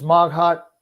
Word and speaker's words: Maghat: yeah and filipino um the emphasis is on the second syllable or everything okay and